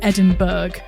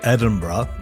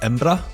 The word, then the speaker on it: Edinburgh: So, most Scottish people say Edinburgh, but if you're really truly a local, you say something more like Edra. Oh, I think you would spell it E M B R A. Embra. But yeah, Edinburgh is No, nobody in in the UK says Edinburg anyway, apart from American tourists a lot of the time.